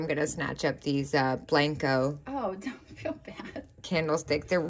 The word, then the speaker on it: Blanco: Blanco.